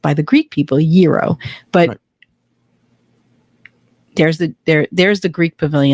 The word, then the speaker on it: gyro: in Tarpon Springs I always called it a gyro until I moved here to Florida and met some Greek people and it's pronounced by the Greek people Euro but there's a there there's the Greek Pavilion